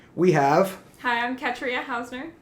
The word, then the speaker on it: Ketria: Hi, I'm Ketria Hausner. Ketria Hausner. She says that you pronounce her name like Katrina without the N.